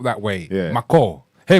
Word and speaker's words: Micall: Because obviously it's funny when we were talking about Ghanaian, I spelt it the simple, like how my dad calls me. That's why it's spelt that way. Yeah. Micall. Hey, Micall. Oh, Micall.